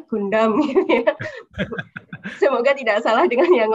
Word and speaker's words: Gundam: leader dari robot Project robot Gang Damai benar membacanya Gundam semoga tidak salah dengan yang lainnya itu adalah